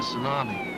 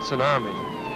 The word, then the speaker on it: tsunami: a title wave a tsunami well you mispronounced it it's tsunami it's a japanese word oceanographers use it took